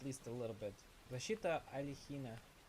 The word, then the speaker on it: Алехин: Подожди, так это ж если это ж, по-моему, Александр Алехин, нет?